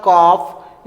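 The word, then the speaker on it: calf: book shelf okay ठीक यहां देखो यहां एल के बाद एफ आया है एल के बाद एफ आया है तो एल क्या रहेगा साइलेंट रहेगा ये क्या हो जाएगा कॉफ ये हो जाएगा हाफ हम लोग एल को प्रोनाउंस नहीं कर रहे हैं ठीक है इससे पहले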